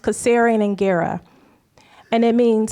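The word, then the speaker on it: Kasserian Ingera: So um the those two words are um pronounced caserian and ggera and it means how are the children.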